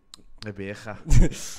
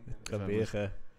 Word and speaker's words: Gqeberha: Gqeberha. Yeah. Gqeberha.